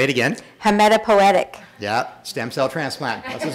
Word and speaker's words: hematopoietic: I used to try to pronounce this first word. Hematopoietic. Say it again. Hematopoietic.